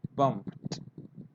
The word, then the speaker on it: bumped: Look, the verb finishes with the p and ed, so you have to pronounce bumped, bumped, helped, helped.